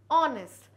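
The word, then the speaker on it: honest: आ रहा है एच है साइलेंट हम इसको नेस्ट तो नहीं कह रहे यस क्या कह रहे हैं ऑनेस्ट भले ही एच आ रहा है हम बोल उसको ऑनेस्ट रहे क्योंकि एच साइलेंट है अब एच साइलेंट है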